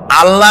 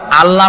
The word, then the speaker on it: আল্লাহ: আল্লাহ নয়, কিন্তু আল্লাহ হচ্ছে অশুদ্ধ, শুদ্ধ হচ্ছে আল্লাহ। বলার সময় মুখটা গোল হয়ে যাবে।